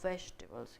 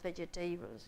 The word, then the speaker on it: vegetables: eat rice or vegetables remember the pronunciation of vegetables can it's not vegitables with vegetables or whatever to be do you